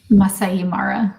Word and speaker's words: Masai Mara: I don't want to butcher the name. Masai Mara. Masai Mara.